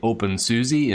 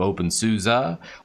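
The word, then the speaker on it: openSUSE: gnome or debian you say deviant you say open susie instead of open souza there's the hey i use linux therefore i'm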